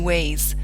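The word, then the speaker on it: weigh: can spell it 2 ways, W-A-Y or W-E-I-G-H. Now, no matter how often a student sounds out W-E-I-G-H, which is w-e-i-g-h, it'll never ever sound like way.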